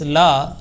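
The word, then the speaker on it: لا: Remember that this la, lam followed by alif, and it is pronounced like la. And alif is a harfe madda, is a letter of prolongation.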